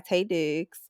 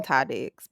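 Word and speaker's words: Taye Diggs: I've been saying that man name wrong. Girl, she she call him Ty Diggs, but his name is Tay.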